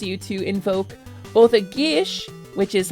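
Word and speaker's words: geas: to invoke both a Gish which is like a magically binding Quest it's it's spelled gas it's pronounced Gish it's a Celtic word and it allows you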